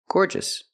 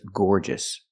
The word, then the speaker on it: gorgeous: So remember, adjectives ending in OUS are pronounced with a short sound at the end.